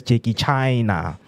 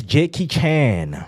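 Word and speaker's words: Jackie Chan: Until today, the South African who still pronounce JK Chen's name as Ji China. It's Jakey Chen.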